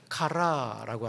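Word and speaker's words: χαρά: 여기서 희락은 헬라말로 카라라고 합니다. 카라 하니까 또 걸그룹 카라를 떠올리는 분들이 계실 텐데 걸그룹 카라는 알파벳이 다릅니다. K고 이거는 CH에 발음 음가를 가지고 있습니다.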